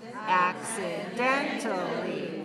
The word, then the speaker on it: accidentally: you say this word accidentally five syllables accidentally five three so put the stress on the third syllable accidentally good James accidentally